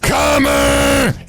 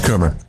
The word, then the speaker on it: Coomer: And Joseph Comer. I'm kidding, it's Coomer. One of my diehard listeners. Well, I know, it's hearing me say his name right now. Ha ha ha, yeah, Comer. No, it's really Coomer.